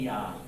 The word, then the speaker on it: Jah: Ah when he says J he's actually saying Yah. It's the same word.